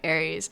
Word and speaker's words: Aries: Aries is spelled as in the horoscope Aries. So I'm horoscope Aries. But I do know a lot of people think Aries sounds like the war god Aries.